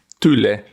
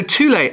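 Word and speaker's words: Thule: Tulle, that's my Inuit pronunciation.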